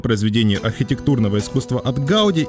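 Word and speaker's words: Gaudí: Вот у меня одна из первых ассоциаций это Гауди. Хотя если говорить правильно, то по-каталонски будет не Гауди, а Гауди.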